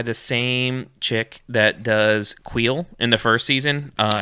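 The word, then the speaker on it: Kuiil: it is queen the queen of quills no queel k-u-i-i-l yeah two eyes oh wheel yeah so handle's pronouncing it wrong or am i just listening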